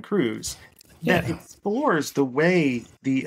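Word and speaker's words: Kruse: by the historian Kevin I think it's pronounced Cruz Kevin Cruz that explores the way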